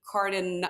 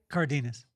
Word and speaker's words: Cardenas: I go looking up Cardin. How do you say your last name? Cardinz. Yeah, Cardinas.